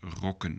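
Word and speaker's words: rokken: again because, for example, roken is not the same as rocken, so the pronunciation matters. Roken means to smoke, and rocken means skirt, so that's a plural of rock. So, and the same goes for zonen, suns, and zonnen, to sunbath, sunbathing. So, let's pronounce after me, roken and rocken.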